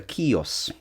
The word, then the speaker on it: Kios: It's called a Kios, which is how it's pronounced in Greek.